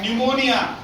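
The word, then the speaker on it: pneumonia: sound of that particular first letter will be silent निमोनिया निमोनिया honest okay निमोनिया is there psycho psychology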